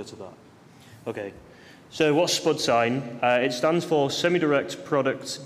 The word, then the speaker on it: SPDH-Sign: we got out and we're pronouncing this Spud sign where spiders British English for potato okay um I'm also